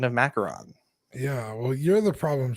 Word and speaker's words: macaron: branch into that French market uh with our pronunciation of macaron.